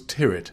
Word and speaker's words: Tyrwhitt: a spelt right but you haven't had to pronounce too right didn't Charles tear it very important gosh what did I mean III